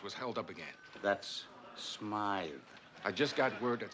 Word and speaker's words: Smythe: Hammer, I just got word that Smith Jewelers was held up again. That's Smythe.